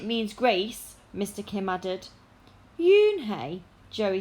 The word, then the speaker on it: Unhei: turned to joey she nodded slowly yes it's pronounced june hey and it means grace mr kim added yoon hey joey said slowly and this time perfectly it